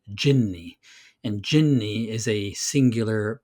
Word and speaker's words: jinni: But genie is actually a mispronunciation of the Arabic word jinni, and jinni is a singular, powerful jinn.